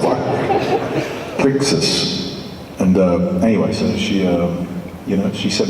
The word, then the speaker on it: Crixus: And I remember my German manager couldn't even pronounce what the name was, She went, "It's Krikas." Krakas. I was like, "What?" Crixus.